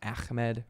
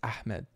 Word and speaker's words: Ahmed: to him tell me how to pronounce Ahmed. Like, it's not Ahmed or like Ahmed or Ahmed. It's Ahmed.